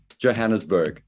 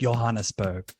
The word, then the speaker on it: Johannesburg: the hard J how do you say it Johannesburg oh you do say it okay oh I thought it was like Johan spur no no no please don't do that uh